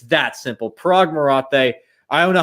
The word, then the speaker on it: Marathe: Is it Marathe or Marath? I don't even know at this point. I say it the way that you said it the first time. But Marathe. There you go.